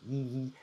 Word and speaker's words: yi: Yee, yee. So if we bring the cheeks together, yee. I know my mouth looks a bit ridiculous and is very exaggerated, but that is the pronunciation of this letter.